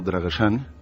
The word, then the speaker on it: Dragosani: Y entonces esta chica me contaba que ella de pequeña se crió en el pueblo de sus abuelos, un pueblo llamado Dragosani, en pronunciación rumano Dragosani, que es un pueblo que está situado en Valaquia, pero cerca de las estribaciones meridionales de los Cárpatos.